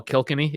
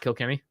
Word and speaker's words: Kilkenny: kill Kenny so I know some people call Kilkenny it is actually pronounced Kilkenny um yeah they hate Kelly yeah so turns